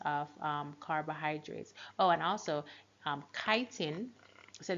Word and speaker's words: chitin: Oh, and also chitin. So this word is actually pronounced chitin and not chitin. So it's pronounced chitin, and chitin is pretty much what forms the exoskeleton in arthropods.